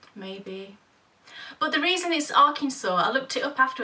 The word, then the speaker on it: Arkansas: set in Arkansas now I always thought this state was pronounced Arkansas how stupid am I but you would have thought the same thing wouldn't you yeah because it's spelt I'm talking to all you lovely Americans out there is spelt a Arkansas yeah why wouldn't it be called Arkansas and it's weird because